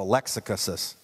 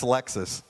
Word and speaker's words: Lexus: this thing called a Lexicus. He couldn't pronounce Lexus. He goes, man, I went and got me a Lexicus, you know, like that.